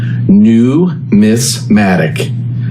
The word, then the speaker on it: numismatic: Numismatic. Just like it reads, numismatic. It's a word you need to practice because if you don't get it correct, your knowledge might be brought into question or discounted. Numismatic is from Greece and